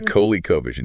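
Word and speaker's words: ColecoVision: The Coco Vision. The Kohley Covision.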